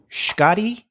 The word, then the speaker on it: Schkade: Let's take a look at Lavender Jack by Dan Schkade. And, when I saw the name Schkade, I thought, that is how you pronounce his name.